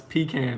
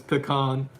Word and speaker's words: pecan: Lost Sailor says, don't let your wife pecan you for how you pronounce pecan. That's right. So my wife says pecan, and my dad, I told him pecan, and he said, isn't that what they give you at the hospital?